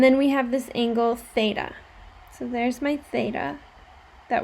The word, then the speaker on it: theta: case you haven't seen this before that is pronounced theta it's a greek that's a greek letter like